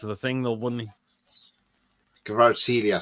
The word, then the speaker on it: Kvaratskhelia: Kvara Kushilia from Napoli. He'd cost a fortune. That's the thing, though, wouldn't he? Kvaratskhelia, sorry, that's how you pronounce it.